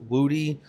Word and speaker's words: Wody: Now, that leaves me with my stepmother, Wody, which I was informed means white girl with a booty, but that should be pronounced Woody.